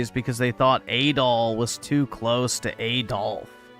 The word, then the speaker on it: Adol: About 5 years ago, a Roman vessel at sea was calm that day and run a foul Yeah, it's Adol.